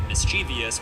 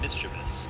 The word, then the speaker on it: mischievous: We actually like sound a lot like a mischievous but it's actually just mischievous. It's not pronounced longevity but rather long emphasizing the N.